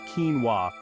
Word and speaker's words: quinoa: look no further than quinoa this ancient grain pronounced quinoa has become a modern-day superfood for good reason